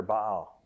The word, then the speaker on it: Baal: he uses and most of the pictures of Baal ba'al is what he's called if we would pronounce it correctly have horns on on it